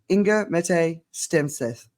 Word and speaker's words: Inger-Mette Stenseth: I have found incredibly inspiring and that is ingga M stth have I said it right you said it